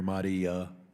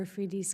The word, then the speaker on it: Afridi: doctor who helped us I believe his name is pronounced dr. Mahdi is going to be released we continue to raise dr. Afridi's case Afridi excuse me in every high-level encounter